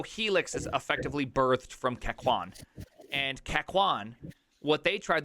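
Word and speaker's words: Kakoune: No, it's not cock-own. Oh. Though I might start Kakune. calling it cock-own. I think it's pronounced Kakwan.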